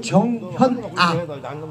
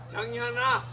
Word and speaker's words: 정현아: 우리 또 정현아, 전현아가 아니고 정현아 한번 물어봐봐요. 뭐? 정현아. 전현아가 아니고 정현아.